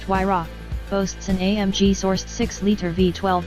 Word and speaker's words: Huayra: Named after the Incan god of winds, the Huayra, pronounced Huayra, boasts an AMG-sourced 6-liter V12 with 2 turbochargers, resulting in 620 horsepower and a massive 740 pound-feet.